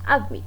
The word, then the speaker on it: admit: Admit, cuando leemos admit no decimos admit, no, decimos admit. Entonces el verbo admitir tiene acento en la última sílaba, es decir, la segunda